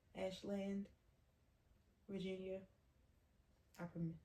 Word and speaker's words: Ashland: Same Virginia, Ashlin. Ashland. Virginia. I can mispronounce words.